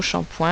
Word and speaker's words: shampoing: moins de points et une petites lettres muettes c'est le g on n'a pas vraiment l'habitude d'avoir des géants fin de mot qui ne se prononcent pas mais encore une fois le mot shampoing est un mot un peu particulier si vous n'aviez pas